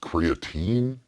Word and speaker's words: creatine: I think it's pronounced Cre-a-Teen. No, it's definitely pronounced creatine. No, it's definitely Cre-a-Teen. I'm positive of it.